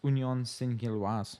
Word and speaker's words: Union Saint-Gilloise: How do you pronounce the Belgian team? It's Union Saint-Gilloise.